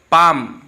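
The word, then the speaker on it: palm: Next देखिए पाम, इसमें L silent है।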